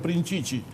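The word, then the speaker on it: Prinčič: No sé una palabra en el idioma esloveno, salvo que el apellido se escribía con un acento al revés y se pronunciaba Princici.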